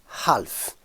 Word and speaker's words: half: Tout ce qui est demi, c'est half. Avec un H prononcé, s'il vous plaît.